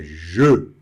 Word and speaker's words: je: O que já pode guardar que se a palavrinha for muito curtinha, igual o je, tem que ter essa impostação do E, tá certo? Não é je e nem G, é je, tá certo?